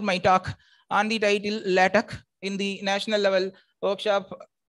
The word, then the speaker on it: LaTeX: See, LATEX we pronounce as L-A-T-E-H, LATEX.